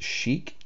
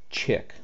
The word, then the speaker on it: chic: It is pronounced chic, not chick.